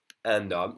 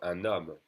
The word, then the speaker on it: un homme: So then I'm going to connect the N to the next vowel with an N sound. So un homme, d'accord, un homme.